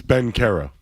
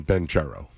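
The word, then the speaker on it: Banchero: It's Ben Caro. Yeah. Okay. I've always called him Ben Charo.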